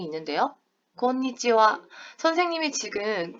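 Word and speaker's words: こんにちは: 글씨는 분명히 하인데 선생님 발음은 지금 어떻게 했다? 곤니찌와 와라고 발음을 했습니다. 자, 여러분 여기 하에 동그라미 치시고요. 하에 동그라미 치시고 인사말에서 끝에 존재하는 하는요. 와로 발음을 해요. 다시 한번 말씀드릴게요. 인사말에서 존재하는 이 끝에 있는 하는 와로 발음을 합니다.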